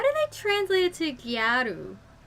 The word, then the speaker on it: gyaru: i translate it to gyaru it's just gal it's just a japanese pronunciation of an english word gal he requested that she